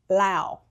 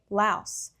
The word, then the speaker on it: Laos: So when I was there, everyone said Lao, not Laos. But I know in English, people say Laos.